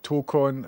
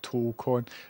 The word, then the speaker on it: Tocon: Tocon has long O and 2 syllables. Tocon.